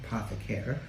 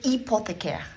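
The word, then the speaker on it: hypothécaire: The bank asks you to create a cedule hypothecaire. It's hypothecaire. Hypothecaire. The H is silent.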